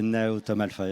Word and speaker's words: NAEOTOM Alpha: Alors dites-moi, ce scanner s'appelle NAEOTOM Alpha, c'est ça, je prononce bien? C'est le NAEOTOM Alpha, effectivement.